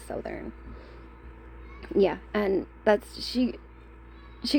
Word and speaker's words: Southern: I always thought it was Southerntherland, but it's Southern.